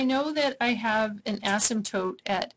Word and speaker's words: asymptote: That's how you spell asymptote, and the P is silent.